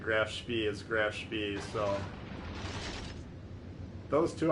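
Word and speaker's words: Graf Spee: And they did say Grafspee is Grafspee, so those two I'm saying correctly according to those guys.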